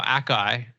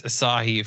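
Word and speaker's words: açaí: of a berry it's not uh yeah well Akai would be how I would pronounce it but I know that it's Asahi from what about Niam um how are you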